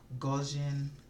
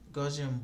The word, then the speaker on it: Gaussian: search for a particular blur effect it's called Gaussian blur so it's spelled g8u s-s-i a and blur so you